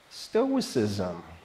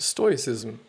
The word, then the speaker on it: stoicism: for you and other fields in your life stoicism that sounds sorry for interrupting again now I actually know what it is pronounced stoicism I always fall it's like stoic ism or